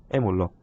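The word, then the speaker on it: malloc: mallog, 말로크라고도 하고 여러 가지 발음이 있는데 저 같은 경우는 mallog으로 발음을 합니다.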